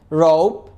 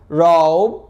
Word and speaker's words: rope: فكلمة حبل يعني rope. بص rope rope، ما قلتش روب. rope زي كلمة home home.